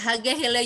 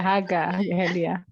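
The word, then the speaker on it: Haaga-Helia: Beliau menimba ilmu pedagogik guru di School of Vocational Teacher Education di Haga apa ini bacanya ya, Haga Hele University Finlandia. Iya, Haga Helia.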